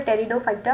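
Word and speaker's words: Pteridophyta: तो नेक्स्ट जो है हमारे पास वो है टेरिडोफाइटा, पी साइलेंट होता है टेरिडोफाइटा, ठीक है।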